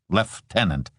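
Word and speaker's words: lieutenant: A cheerful voice said, "Let tenant only here." He pronounced it left tenant, so Steve knew he was an Australian.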